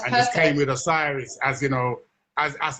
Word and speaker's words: Osiris: You're pronouncing it correctly. Yeah. Osiris.